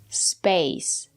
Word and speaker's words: space: And now let's look at this word space. Here we have the letter A and the silent E. We pronounce the letter A as the long A like in lake and make. Space. space.